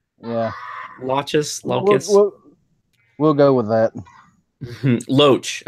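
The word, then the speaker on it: Loesch: How do you pronounce the last name? Dana Locke. Yeah. Locus. We'll go with that. Loach. Okay, Dana Loach.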